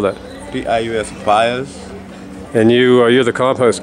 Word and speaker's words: Pius: How do you spell that? P-I-U-S, Pius.